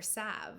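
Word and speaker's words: salve: healing Sal uh or Sav I believe the L is silent it's funny because I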